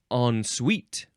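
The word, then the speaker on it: en suite: the thing that you followed okay next is on Suite yep that's how you say it on suite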